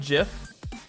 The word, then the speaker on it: GIF: So I pronounce it Jif. It's not Jif the peanut butter, it's Jif Jif. I'll give you 3 points for that. The first point is Jif is pronounced Jif because the file name